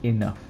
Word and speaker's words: enough: spelling we pronounce it with a but we spell it with a gh enough then we have plural nouns so these are